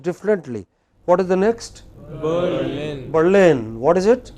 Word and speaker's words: Berlin: For no rhyme or reason, which are pronounced differently. What is the next? Berlin. Berlin. What is it? Berlin.